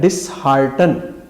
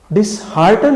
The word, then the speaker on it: dishearten: درست لفظ ہے ڈسہارٹن, DISHEARTEN. ڈسہارٹن لفظ ہے جس سے ایڈجیکٹو صورت ڈسہارٹنڈ بن جاتی ہے. گویا جہاں ہم ڈسہارٹ کا لفظ عرف عام میں استعمال کرتے ہیں وہاں ڈسہارٹنڈ کا لفظ استعمال ہونا چاہیے کہ یہ بچہ ناکام ہو گیا ہے, اس کو ڈسہارٹنڈ نہیں ہونا چاہیے. یعنی کہ میں آپ کی پرفارمنس سے ڈسہارٹ نہیں ہوا بلکہ ڈسہارٹن ہوا ہوں, یہ فکرہ درست ہے.